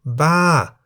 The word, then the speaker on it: บ้า: For example, Ba, meaning crazy, is in the falling tone because the single syllable in the word Ba begins with a middle-class consonant Bo by Mai and has the tone mark Mai To.